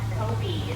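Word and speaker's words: kopje: an area called the african rock kobe the j is silent and that is where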